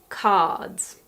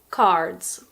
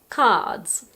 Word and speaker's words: cards: so it's something like cards but in the UK and Australia we don't pronounce the R and it's pronounced cards cards most of the